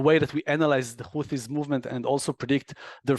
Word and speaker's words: Houthis: Starts from Houthim in bad Hebrew to Houthis in English. So it's actually taking with my not so good Hebrew English accent, should be said Houthis.